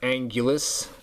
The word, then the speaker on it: Anguirus: And also, too, the name Anguirus, or Angulus, in Japanese, I'm pretty sure translates out to Ankylosaurus, or is pronounced roughly the same as Ankylosaurus.